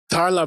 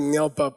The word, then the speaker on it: dar la bab pa: The next one is called dar la babpa (DAR LA BAB PA)-- I mispronounced it before--I said ngel bap, but the carving was wrong. It's dar la babpa.